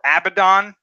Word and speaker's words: Abaddon: Another one is Abaddon, or Abaddon, I guess you can pronounce it like that. I've always heard it pronounced as Abaddon, who is another name from the Bible.